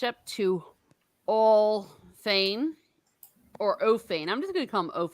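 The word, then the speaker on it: Orl Fane: I've been calling him Oral Fane. And apparently that caused controversy. That's how I say his name because it's really hard to say ORL together.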